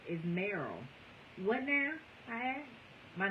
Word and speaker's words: Meryl: My name is Meryl." "What now?" I asked. "My name is Meryl." "Oh, yes, honey, that may be," I said, "but Merle rhymes with girl, so it's Merle, girl."